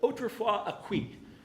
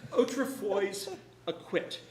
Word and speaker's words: autrefois acquit: She has and Brian Garner says to pronounce it the American way. I don't know what the American way is, but autrefois acquit.